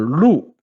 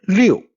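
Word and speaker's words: 陆: This character Lu Lu can be Li meaning land or Liu meaning 6,000.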